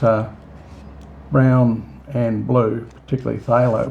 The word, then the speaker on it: phthalo: brown and blue particularly Pho blue and that's spelled p h t a l o uh guys a very